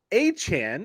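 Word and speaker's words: Achane: without Jalen waddle uh Devin a Chan as he has said is how his name is pronounced over 200 yards rushing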